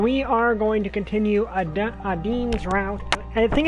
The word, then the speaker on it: Adine: And we are going to continue Adeen's route. I think it's Adeen. I'm not sure if it's Adeen or Adine. I think it's Adeen. Because I've never heard these names pronounces, but I'm pretty sure it's Adeen.